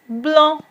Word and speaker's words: blanc: C in the end is not pronounced as it is a consonant, and an, as I told you, the pronunciation is on, so it is blanc.